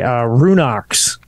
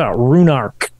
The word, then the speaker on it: Ruinach: With a hard K, even though it's CH. Yeah, hard K. Runark. No, there's no R. There's not Runark. Ruinach. That's how I remember them pronouncing it when we saw these things. Mm-hmm. But yeah, I don't know. Ruinach is what I would pronounce it based on how it's spelled. But yeah.